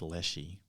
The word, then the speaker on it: Leshy: And when the Lashe, or the Lashe, I think it's pronounced Leshy. Anyway, when the Lashe takes